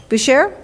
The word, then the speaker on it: Boucher: please correct me if anybody knows the correct pronunciation, Arsène Boucher? Boucher, correct.